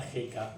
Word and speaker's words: Heka: ver cómo se representaba jeka desde el jeroglífico Cómo se escribía jeka que era bueno era un lacito que es la letra J la pronunciación Sería más o menos nuestra J aunque se escribe como